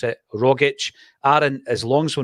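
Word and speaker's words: Rogić: Why do some folk pronounce it Rogic and others correctly pronounce it Rogic?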